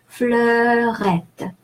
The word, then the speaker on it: fleurette: EU is pronounced E in French across the language. And E followed by two consonants, the double T there, E followed by two consonants is pronounced E, as if it had an accent. So E, like in the English word egg. And the final E is silent because it doesn't have an accent.